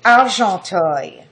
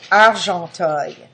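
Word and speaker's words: Argenteuil: of 18 74 man went to arto I will spell it for you capital a r g n t e u i l arto a r g n t i l again this is the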